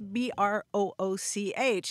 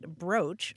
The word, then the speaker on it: brooch: how do you pronounce b-r-o-o-c-h now i'm completely confused it turns out that most dictionaries will tell you it's pronounced broach although some do countenance the pronunciation brooch but i had this